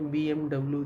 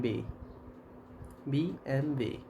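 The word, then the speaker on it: BMW: brand सुना होगा आपने बीएमडब्लू जैसे हम कहते बीएड इट्स नॉट बीएम डब् इट बीएम बी एमवे सुनने में लग रहा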